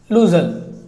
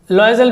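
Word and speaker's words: Loisel: का नाम था मिस्टर लूजल। लॉयजल भी पढ़ते हैं आप लोग इसको स्पेलिंग की वजह से, लेकिन ये लूजल पढ़ेंगे तो ज़्यादा बेटर रहेगा।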